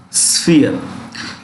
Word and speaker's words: sphere: This SP is pronounced with an F. Remember this, okay? Sphere.